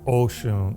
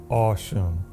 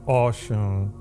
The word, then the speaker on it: Ọ̀ṣun: Yoruba is kind of pronounced aw instead of O. Instead of Oshun, it's Aw- Awshun. So, Awshun.